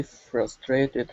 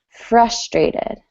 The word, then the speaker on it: frustrated: Frustrated. I'm frustrated. Good. Yes, we want the emphasis on the first syllable instead of the second.